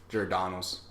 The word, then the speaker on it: Giordano's: Giordano's. Giordano's? How do you say it? Giordano's. Giordano's? Giordano's. Giordano's. Yes. I We- mean, with the- people in Chicago disregard the R and they just call it Giordano's.